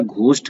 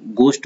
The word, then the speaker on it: ghost: कल हमने घोस्ट का, इसको GHOST को घोस्ट बोला था, जबकि इसका प्रोनाउंसिएशन गोस्ट होता है।